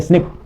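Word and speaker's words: SNP: single nucleotide पॉलीमोर्फस ज्म pronounced as अ स्निप okay occurs in humans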